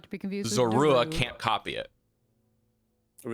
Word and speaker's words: Zorua: He means Zorua, by the way. So Yeah, I'm saying it wrong. Sorry, Razula. Yeah. The Lulu. Zor is the The first Lulu. syllable.